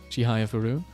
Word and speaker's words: Chihayafuru: tip Moon chihaya furu chihayafuru that's how they say it because it's part of the you in Kar you you you you read the poem and then you you you put the emphasis on the words and then you go